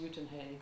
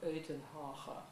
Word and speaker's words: Uitenhage: The other thing that happened during that conference was that people from a nearby, smaller town called, well, it's pronounced Uitenhage or Uitenhage, but anyway, it's near Port Elizabeth.